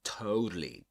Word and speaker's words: totally: And um so you get that flat T there and which you will usually find in dictionaries indicated like this with this symbol indicating that it's a flap T. Okay. Pronounced like a D d. So totally totally and um so totally in love.